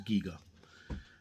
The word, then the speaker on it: Giger: Very inspired by H.R. Giger, or Giga, depending on how you want to pronounce it. I'm positive that I heard him in an interview. He said that it was Giga.